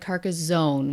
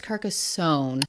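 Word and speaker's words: Carcassonne: last video as well I guess I said it like car Zone with a zed yes I am Canadian but apparently is Kasson my apologies fat o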